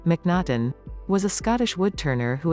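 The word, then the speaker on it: M'Naghten: daniel minaden 2.2.3.700 full daniel minaton pronounced and sometimes spelled mcnaughton was a scottish woodturner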